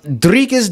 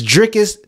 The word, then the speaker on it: Dricus: we go any further his name is dricus dupus somebody corrected me in the comments in our last video but I can't help